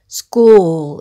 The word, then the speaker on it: school: 처음 부터 읽어 보면 , S 는 "s" 이고 , CH 는 "k" 처럼 발음 되며 , O-O 는 "oo" 처럼 묶여서 발음 되고 , L 은 어미 "l" 소리 이므로 "school" 로 읽게 됩니다 .